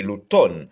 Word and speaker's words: automne: j'écrit c'est mne c'est c'est pas l'automne non c'est l'automne et bien M na pas prononcé dans mot ça donc c'est l'automne en nouveau printemps pas